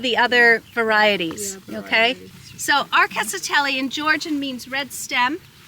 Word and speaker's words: Rkatsiteli: It's called Arkatsiteli. Or at least that's how we pronounce it. It's a Georgian grape.